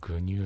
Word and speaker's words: GNU: 定義のレースがぐにゅと読むんですけどもこれ何の略